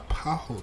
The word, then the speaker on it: Paulo: Uh, you don't pronounce the L in Sah and Po. So it would be uh paho.